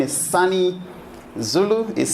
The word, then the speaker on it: Sonny: so I've been right introduced my name is funny Zulu is spelt as s all about NY a lot of members that don't know how to read that name the ridges Sony and sometimes I still answer to Sony but